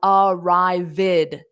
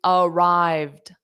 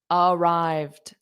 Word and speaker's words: arrived: adds an ID sound so it is not pronounced as ared no it's arrived arrived there's two sounds okay excellent job everyone how